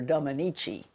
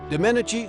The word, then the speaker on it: Domenici: at uh because um the previous witness had mispronounced his name called him Senator Dominichi and I didn't and uh the first thing he said to me when he got a chance to ask a question was uh I like you. You can pronounce my name.